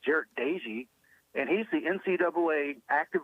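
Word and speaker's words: Doege: happen to listen his last name is now pronounced Dei I always thought it was Doge but it's Jered Dei and he's the NCAA active leader in pass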